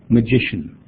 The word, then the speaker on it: magician: and then of course we need to get the stress on the second syllable so I might try I might say hey listen to me guys magician where's the stress and